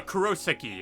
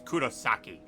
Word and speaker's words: Kurosaki: it ich icho um Kurosaki which is like wrong yeah that is wrong wait no it's a Kurosaki and it's like no it's Kurosaki but you know he'd